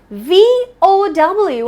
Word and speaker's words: vow: the reason is that you start with a bite and end with a kiss I'm not talking about